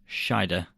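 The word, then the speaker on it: Scheider: name I don't know there's no n in it is there Sher oh did I give an n in it okay shider shider y I like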